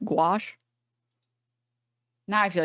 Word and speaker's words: gouache: Gushaw, how do you pronounce it? Gouache. The Oh my god, I'm like butchering this dude. China will never give me citizenship. Guawa.